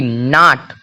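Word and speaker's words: knot: चाकू के एन ओटी नॉट नॉट मतलब होता है गांठ देखिए एन के ठीक पहले के है तो के का कोई साउंड कोई के का कोई उच्चारण नहीं निकला नॉट मतलब होता है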